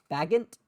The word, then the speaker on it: Bagent: Bagant. I mean, I Bagent.